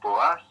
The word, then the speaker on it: Boas: The band name is Boas. It's actually an Afrikaans name. It's a predominantly Afrikaans band. Yeah. And it's fun means from, for those who don't know. And Boas is a character in the Bible.